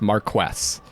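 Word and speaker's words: Marquess: I did some research and some of you gave me some uh tips on how to pronounce that. So, it's Marquest.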